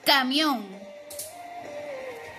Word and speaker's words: camión: Por ejemplo, la palabra camión. Camión. ¿En dónde encontramos la intensidad o la fuerza de voz? En la última sílaba, que es on.